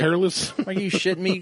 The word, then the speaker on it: Peerless: Like the Blanton's Gold episode, like Perlos instead of Peerless. Yeah, Perless. Perless. I'm like, Peerless.